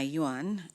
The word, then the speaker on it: yuan: m i c homeothermic that is correct Dominique Yuan may I please have the definition it's a basic monetary unit of China can you please say the word in a sentence I got to spend my yuan in China may I please have the part